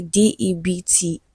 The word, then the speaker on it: debt: D E BT is pronounced debt.